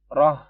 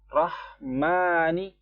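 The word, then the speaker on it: الرحمن: Orang biasanya bacanya roh yang ha yang berada di tenggorokan bagian bawah seperti H ini. Nah, biasanya orang bacanya roh, itu salah. Rah di tengah. Rahmani ar-rahim.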